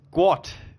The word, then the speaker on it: Guat: He goes, well, his name's not Gawk McCure Gawk. It's Gwot.